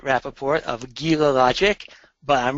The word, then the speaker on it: Rappaport: make first of all I pronounce my name Rapaport of gila logic but